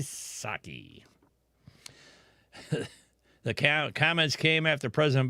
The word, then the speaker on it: Psaki: Psaki, I don't know why she thinks the P is silent, but maybe you need to get out the eraser.